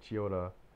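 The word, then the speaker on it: Chiyoda: the Kyoya cheat it's where is it Chioda Chioda Chioda it's kind of how you say it Chioda it's not really emphasis on the cheese it's just you know that's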